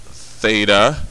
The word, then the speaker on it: theta: reference angle that's theta right there so that's pronounced theta that it's a Greek letter meaning that this